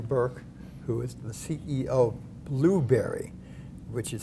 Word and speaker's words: Bluberi: here with Andrew Burke who is the CEO blueberry which is spelled b l u b r i for